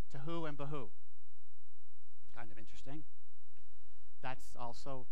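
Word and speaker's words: בהו: without form to who the other word which we translate as void rhymes with it it's behoo to who and Bahu kind of interesting that's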